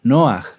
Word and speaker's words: Noaj: ¿Quién se acuerda cómo era la pronunciación correcta de Noaj? ¿Noaj? No, era Noaj, ¿verdad?